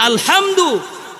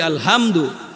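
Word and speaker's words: الحمد: থাকি আলহামদুলিল্লাহি রব্বিল আলামিন এই যে আলহামদু এটা গলার ভিতর থেকে আসবে মাখরাজ অনুযায়ী উচ্চারিত হবে আমরা যদি এটা বলি আলহামদু নরমালি যদি উচ্চারণ করি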